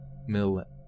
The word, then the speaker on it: Milat: anybody know milady is it milady MLAT okay millet millet yeah Ivan Madhuri shabadoo booze you me lower okay millet okay like mullet and what is it is